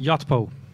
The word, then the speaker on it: Yotpo: To my right is Udi Ledergor, head of marketing of, how do you say it, the company name? Yotpo.